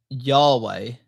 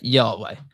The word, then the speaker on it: Yahweh: So again, it's just YHWH, which is interesting because when you actually like pronounce that, yeah, it sounds like the exhaling and the inhaling of breath, which is life.